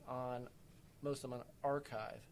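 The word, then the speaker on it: arXiv: most of them on archive that's a RX IV pronounced archive again I name it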